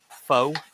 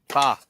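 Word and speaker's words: phở: if you're into that fox fo F fo F fa yeah fa even though it's spelled with a fraking o just to confuse the Americans exactly I know it's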